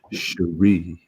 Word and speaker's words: Cherie: Sherry, congratulations. Make sure you watch this show. Heck, I'd put that on my front page. I'd put that on my home page. Just for pronunciation's sake, it's Cherie.